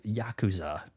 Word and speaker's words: Yakuza: So, I've I'm haven't played any of the Yaku Yakuza, that's the way to pronounce it, games.